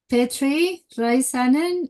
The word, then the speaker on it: Petri Räisänen: In today's episode, we have Petri Raisanen. Am I pronouncing that well, Petri?